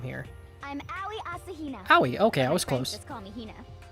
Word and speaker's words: Aoi Asahina: I'm Aoi Asahina.